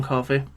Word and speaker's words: Coffey: Plays Big John Coffey. It's like the drink, but no, just not spelled the same.